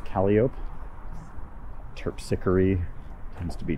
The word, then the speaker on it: Calliope: The next one after that is Calliope, which we pronounce Calliope.